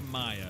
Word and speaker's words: Mia: Uh, thanks for writing in from Mia or Maya. It's MIA. I know it can be pronounced either way.